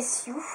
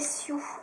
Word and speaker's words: Sioou: Ensuite, j'ai commandé chez Sue. Alors, chez Sue, je vous rappelle, ça s'écrit comme ceci.